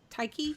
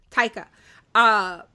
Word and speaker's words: Taika: Even though I think Taiki, is that how you say his name? Taika.